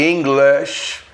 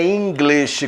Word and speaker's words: English: A palavra não é English, como o brasileiro fala, English, é English.